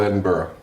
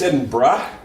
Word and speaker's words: Edinburgh: trash dates yeah uh wait and you're saying it's in bra yeah well it's not Edinburgh but like I didn't grow almost Edinburgh but there's no R after